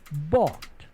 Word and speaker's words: bought: Select the letters of the word bought in the proper order. Don't forget the silent letters.